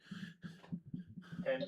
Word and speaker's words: Thames: If I'm getting the name wrong, you can hit me. Thames is correct.